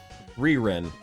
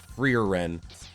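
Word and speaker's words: Frieren: Freeren. Freeren? How do you say that? Freeren. Like Freon. Free-Ren, okay. Ren did nothing. Free-Ren, alright.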